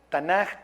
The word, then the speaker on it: Tanaj: torá luego viene na tanaj Ta Na que viene de nbim o navi que es profeta y luego viene la k que se pronunciaría J tanaj que es de escritos